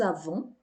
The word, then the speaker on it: avons: Nous avons, o S não é pronunciado.